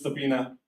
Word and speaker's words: subpoena: India no subpoena okay and B is silent so it's subpoena okay so these things